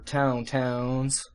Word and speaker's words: tauntaun: Okay, so that's good enough covering for tauntauns. That's actually how they're pronounced.